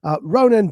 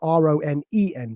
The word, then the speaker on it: Ronen: Again, Ronen Bar, it's spelled R-O-N-E-N, by the way.